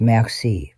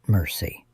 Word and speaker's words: merci: It's merci, Richard, not mercy.